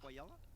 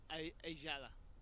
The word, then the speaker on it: Ayala: It's Quayala? No, it's Ajala. Ajala? The Y is pronounced a J, but that is Big C.